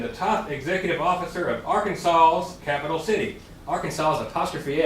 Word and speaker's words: Arkansas: cubing expands is that Arkansas ends in a silent s the apostrophe does not